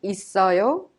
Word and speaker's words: 있어요: 형도 있어요 is pronounced 있어요. The final consonant double S in it of 있어요 is prolonged and connected to 어요 to be pronounced 있어요. 있어요.